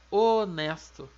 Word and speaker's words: honesto: esse mesmo exemplo é pega a palavra honesto em português a gente escreve com h mas esse aguarda não tem som né a gente escreve